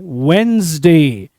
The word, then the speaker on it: Wednesday: Many of us call it Wednesday, but it should be Wednesday. Correct pronunciation should be Wednesday. Wednesday नहीं बोलेंगे हम, Wednesday बोलेंगे. D silent होगा आपका.